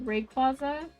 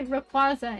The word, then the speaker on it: Rayquaza: because i was saying rayquaza no no i would say replaza instead of rayquaza but like i don't